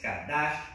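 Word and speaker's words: קָדַשׁ: Le pueden poner un acento en la A para que sepan que es kadash, como cash, ¿verdad? Pero es kadash.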